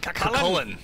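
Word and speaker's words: Cú Chulainn: is this dude and how the hell do you pronounce his name first of all so why don't we call him cullin kullin okay yeah not Cain nope so he's obviously from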